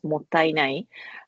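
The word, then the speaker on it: もったいない: And then mottainai, yes, it is pronounced as mottainai, which is often translated as what a waste in English, but it has much more, much deeper meaning there.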